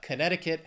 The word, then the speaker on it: Connecticut: But Connecticut has four syllables. The stress is on that second syllable.